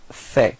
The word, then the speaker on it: fait: So il fait. Same pronunciation, so final T is not pronounced.